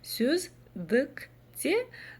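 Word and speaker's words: сөздікте: Сюздкте звучит вот ровно так, как нам надо.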